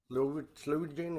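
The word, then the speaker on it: Sloe Gin: Slow gin or slow whatever.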